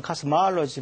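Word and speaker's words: cosmology: 그래서 이거 두 개가 구분이 돼야 되고 제일 혼돈되는 것이 코스모스라는 단어에서 나온 코스몰로지라는 단어가 있습니다. 코스몰로지. 영어로는 카스마알로지 이렇게 발음합니다. 근데 이게 우주론입니다.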